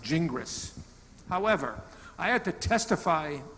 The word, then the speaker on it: Gingras: so in English-speaking countries, it's best pronounced Gingras.